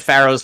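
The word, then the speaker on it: Faro: oh pharaoh like that i was thinking f-a-r-o for whatever it is it is written that way but phonetically it is still pharaoh yeah no that's a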